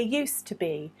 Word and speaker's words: used to: used to be now can you hear when i say used to be you can hardly hear the da da it's very very gentle in pronunciation this restaurant is nothing like it used to be used used used used to be used to be okay we almost just remove it from speech however it is there